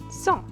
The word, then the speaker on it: cent: And then we have 100, which will be pronounced simply as cent.